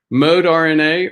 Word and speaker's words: Moderna: candidates Pfizer and BioNTech ModeRNA or Moderna depending on how you pronounce it how you want to pronounce it and I've heard both and the third one